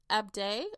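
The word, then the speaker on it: Ahdieh: still alive as well the author is Renee abday I believe that's how you pronounce it a-h-d-i-e-h I apologize if I mispronounce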